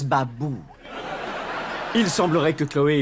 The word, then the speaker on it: Babou: Et votre prénom c'est Bobo? Ça se prononce Babou.